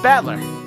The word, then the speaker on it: Battler: own name that is made up of the characters for fight and person so it's pronounced battler put it all together